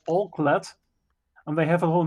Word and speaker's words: Alclad: Can you spell it? All-Clad. It's ALCLAD. All-Clad.